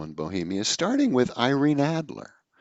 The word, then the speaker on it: Adler: And well, it always struck me that Adler was a kind of Dickensian name. That here is Irene Adler, or Irene Adler, if you want to go with the European pronunciation, has done the unthinkable.